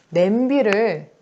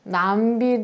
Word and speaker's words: 냄비: 예를 들어서 이모음 역행동화가 드러난 냄비를 남비 대신에 표준어로 삼는 거. 냄비를 표준어, 남비를 비표준어 이렇게 쓰는 경우가 예를 들어서 있죠.